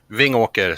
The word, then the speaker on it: Vingåker: do you pronounce the name of your hometown? Vingåker.